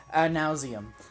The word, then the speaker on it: ad nauseam: That's how you pronounce it. Ad nauseam.